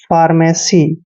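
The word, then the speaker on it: pharmacy: एम ए सी वाई देखिए पी एच का उच्चारण हमेशा हमने फ करता है फ और ए को आ की मात्रा लिखते हैं आर को हमने र लिखना है एम ए का उच्चारण मैं और एक की मात्रा करते हैं सीवाई को हमने सी पढ़ना है फार्मेसी फार्मेसी होता है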